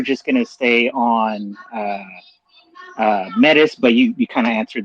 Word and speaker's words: Metis: I don't know how to pronounce it. Maybe Metis, and now Celo. So yeah. Go ahead, host. No, yeah, I was gonna say yes, sir. Metis, like you pronounce it like right, Okay.